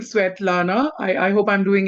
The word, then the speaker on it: Svetlana: I just love your name and you just gave me the rightest permission ever because I love pronouncing pronouncing sweat Lana.